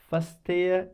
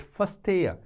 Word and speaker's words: verstehe: But important is that verstehe. Verstehen is the verb which means to understand. Das verstehe ich nicht. Das verstehe ich nicht. Das verstehe ich nicht. Remember, we is pronounced as F, or the real one